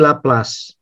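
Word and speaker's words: Laplace: teori di sistem ini satu lagi laplas laplas tuh orang Perancis jadi Bacanya jangan lepas ya tapi laplas salah satu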